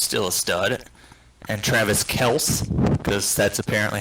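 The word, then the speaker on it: Kelce: but the dude's still a stud and travis kels because that's apparently how you pronounce his last name kels oh uh he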